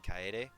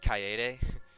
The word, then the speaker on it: coyote: was kokichi's voice actor mispronouncing coyote instead he said kayode like Kai a day jerk no I just